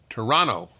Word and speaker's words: Toronto: you say in Toronto Toronto they don't pronounce the second T you're from Toronto by the way did